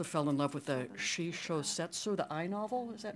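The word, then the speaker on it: shishōsetsu: I also fell in love with the Shisho Setsu, the eye novel, is that how you say it?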